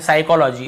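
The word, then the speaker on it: psychology: piece and shining में पी लिखा हुआ है लेकिन हम पी को पढ़ते नहीं है साइकोलॉजी इसे हम क्या पढ़ते हैं साइकोलॉजी ठीक है सॉरी यहां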